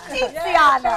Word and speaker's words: Tiziana: Tiziana.